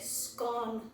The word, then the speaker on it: scone: debate and said that she pronounces it scone like gone.